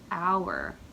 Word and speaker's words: hour: this looks like Hower the H is silent this is how we spell the word hour like the time hour